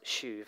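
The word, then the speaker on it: שוב: And the Hebrew word, and I think it's pronounced shuv, it's S-H-U-V, or perhaps in the West Midlands it looks more like shove.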